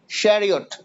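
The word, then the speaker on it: chariot: যারা চ্যারিয়ট বলছো তাদের কারোটা হয় নাই এটা উচ্চারণ হবে স্যারিওট শ্যারিওট আমরা পড়েছি না সিএইচ এ বেশিরভাগ সময় সে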